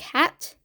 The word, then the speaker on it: had: into Czech which is spelled like had but pronounced more like hat I didn't just want